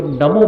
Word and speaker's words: नमो: कभी नमो बोलिएगा और पूरे मन के साथ नमो बोलिए। नमो ना का उच्चारण मत करिएगा, ना है नमो। नमो में न, अ, म, ओ 4 शब्द हैं, और आप आश्चर्य करेंगे